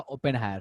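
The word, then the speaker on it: Oppenheimer: थे जिनका नाम था ओपेनहायर। मतलब प्रोनाउंसिएशन थोड़ा सा अलग अलग हो सकता है, ओपेन हायर लोग बोलते हैं, ओपेन हायर बोलते हैं, ठीक है, बट ओपेन हायर नॉर्मली सुनने को मिलेगा, ठीक है।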